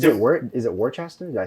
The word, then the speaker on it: Worcester: where it is it Worchester yeah I say we're just yeah pronounce Worcester what stir it's not that hard